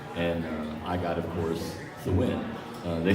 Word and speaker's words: Thawind: and then so it's Thawind. And if you say my name fast enough, the windmills.